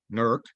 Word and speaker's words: Newark: it going on East going into Newark or as the locals say nerk uh we cross uh